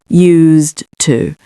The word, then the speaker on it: used to: Whereas with this one, it has a sort of zed to use. Use. But then when we come to this, used to. Okay. So just remember there is a slight change of pronunciation when you say to get used to something.